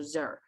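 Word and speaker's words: zir: letter z like like h i r is typically pronounced the word like here but put a z in front of it so zer okay and then at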